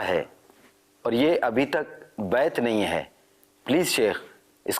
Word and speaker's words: بیعت: بیعت بیعت نہیں، بیعت صحیح تلفظ ہے۔ بیعت کا لفظی معنی